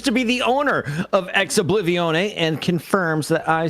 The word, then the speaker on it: Ex Oblivione: We have official word from Kevix, who I have not done any background checking, but he claims to be the owner of Ex Oblivione and confirms that I say it correctly.